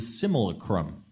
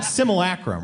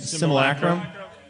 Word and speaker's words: simulacrum: a common magician trick known as the similacrum unless i pronounced that wrong simulacrum right simulacrum primary guy knows what i'm